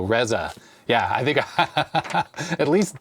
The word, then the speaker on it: Reza: It says Reza, pronounced like Pez with an A, Peza, so Reza.